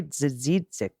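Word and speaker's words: Dziedzic: also one person you should know the proper pronunciation. Senate Majority Leader Kari Dzidzik. Dzidzik. Okay. Now you're taking me Wisconsin way with Protozewitz, which took me forever to get right. So we're on Dzidzik now in Minnesota.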